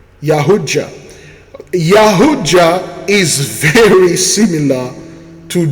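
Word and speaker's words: Yautja: Okay, the predator, also known as Yahuja, pronounced Yahuja.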